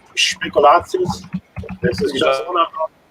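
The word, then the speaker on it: Spekulatius: pronunciation Speculatius.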